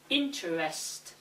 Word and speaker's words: interest: The same applies to the following words: every, different, interest, and extraordinary. Every, different, interest, extraordinary.